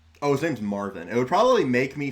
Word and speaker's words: Marvin: Oh, his name's Marvin. It would probably make me feel a little bit more endearing if I didn't constantly mispronounce his name. I don't think I've called him Marvin once. It's always Martin.